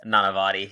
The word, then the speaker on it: Nanavati: Nanavati. I said Nanavati. Americanized. I said we both have the Americanized version we say our name and the Indian version.